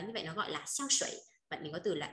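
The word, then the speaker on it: 香水: Nước hoa sẽ đọc là xiang shui nhá. Shui thì là nước lọc không? Xiang mà đúng một mình có nghĩa là hương thơm. Đấy, bạn nào mà tên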